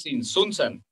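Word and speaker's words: Tzintzuntzan: Ah, es Sinsunzán.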